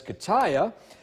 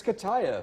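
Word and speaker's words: Katia: We have Gert and, I'm pretty sure if I pronounce this correctly based off of what their website says, Kataya. Yeah, I thought the kidding. same thing. Yeah, I guess it's Kataya, but that's at least what the Atlantic Storm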